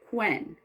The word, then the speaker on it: Quen: And the character's name is Quen. Quen. So the Q is Quen. And it's like the name Quentin, for example.